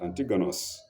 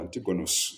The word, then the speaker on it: Antigonus: came came into conflict with antigonos no with antigonos yes with antigonos or antigonus if you like with antigonus the first